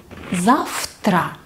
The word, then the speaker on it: завтра: Вы слышите, что я произношу завтра? Почему? Потому что у нас глухой звук «т».